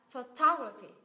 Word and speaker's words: photography: à Sorry nhiếp ảnh đúng không sẽ là photography photography cái kết thúc bằng i dài nhấm